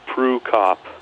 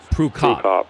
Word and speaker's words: Prukop: We're talking to Dakota Prukop. Am I pronouncing that correctly? Somewhat. Prukop. It's always a little variation. It's Prukop. Prukop.